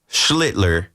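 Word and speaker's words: Schlittler: First of all, uh we we got Schlitler, how do you say his name? Slitler, right? Cam Schlitler. Cam Slitler. Yeah.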